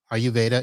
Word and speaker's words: Ayurveda: the video and have not seen the title ayurveda is spelled a y u r v e d